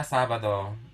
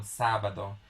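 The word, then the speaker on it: sábado: of the the vowel if we don't put the accent on top of a on the syllable of sa it would be pronounced as sabado sabado so there's an emphasis that is put on top of the sa that's why it's called sabado but since we are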